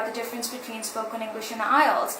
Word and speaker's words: IELTS: IELTS, I-E-L-T-S, and it is pronounced like IELTS.